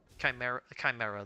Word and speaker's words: Chimera: Was tempted to buy the Chimera Jerky, but Chimera, that's the correct pronunciation.